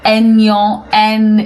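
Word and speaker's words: Aignan: It's a silent g in French. So we say en is the north polaris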